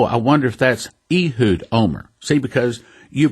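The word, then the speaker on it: Olmert: wonder if that's Ehud Omer. See, because you pronounce pronounce Ehud's Omer's last name Omer, but it's spelled O-L-M-E-R-T, but it's pronounced Omer.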